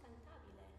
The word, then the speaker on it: cantabile: How do you say cantabile? You can say cantabile.